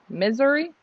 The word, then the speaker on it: Missouri: Oh, I'm saying it wrong. It's Missouri. Missouri?